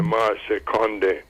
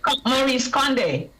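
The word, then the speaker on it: Maryse Condé: Both of them by Marseille Condé. Right. She's from Guadeloupe. Maurice Condé. Yes, Yes. You know how to pronounce it better than me.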